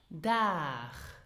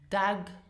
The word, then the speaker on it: Dag: Now, did you hear how I pronounced it? Dag. Now, many of my students pronounced it dag or dag, which is not correct. So the final letter G is not pronounced G, but it is more pronounced as in machen, so you have the soft sound.